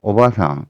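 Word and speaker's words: おばさん: 어 또 할머니는 오바상 길게 발음하면 되고 오바상 하게 되면 아줌마가 됩니다.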